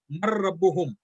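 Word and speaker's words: من ربهم: We tajweed, but when you are reading in the Quran, it will be written as Mar Rabbuhum. Right? That is how it should be read ideally.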